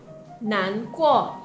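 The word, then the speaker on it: 难过: Ini bacanya nan kuo, artinya sedih.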